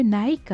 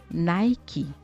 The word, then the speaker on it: Nike: Je suis sûre que vous avez pris habitude de prononcer Nike. Tous les francophones le font, c'est devenu une institution de dire Nike. Et pourtant, notre fameux Nike se prononce en réalité Nike.